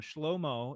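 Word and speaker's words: שלמה: how old it is this is a final o sound schlomo is the name solom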